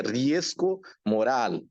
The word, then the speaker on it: riesgo moral: A pronúncia certa é riesgo moral. Não é?